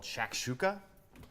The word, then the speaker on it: shakshuka: So today I'm going to make a dish called Shakshuka. It's spelled S-H-A-K, S-H-O-U-K-A.